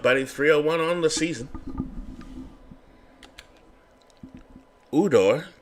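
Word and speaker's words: Ujdur: Udor, Jay is silent, on the mound.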